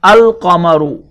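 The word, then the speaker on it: القمر: Now when alif lam is added to both of them, this becomes Ash-shamsu, and this becomes al-qamaru.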